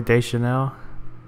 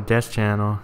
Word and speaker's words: Deschanel: saints R 4 and I made Zoe de Chanel I think I pronounced that right I used to call her death Channel but that's that's not how you pronounce it apparently but yeah this